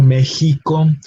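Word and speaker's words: México: case in words like Mexico. We have the letter X, but we have the sort of H pronunciation in the middle syllable. Mexico, Javier, Jimena.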